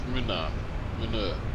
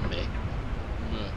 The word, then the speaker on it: Munur: It's Munur, not Mick.